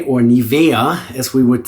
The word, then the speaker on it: Nivea: And then after that, we're just going to grab some Nivea as we in English would say, or Nivea as we would say in uh Germany.